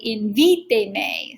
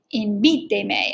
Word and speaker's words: invíteme: So if the word was invite, we need it to stay invíteme. So we count back 3 syllables from the end. Uno, dos, tres, invíteme.